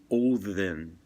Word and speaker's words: Odin: him Odin, but actually, if you look at Old Norse, sometimes a symbol is used for the D, and it's not a D. It's the symbol for the sound, the voice th.